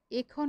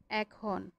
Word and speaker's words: এখন: উদাহরণ একদম সহজ, দেখো আমরা এখন বলছি না, আমরা বলছি এখন। এটাকে এর মতো বলছি।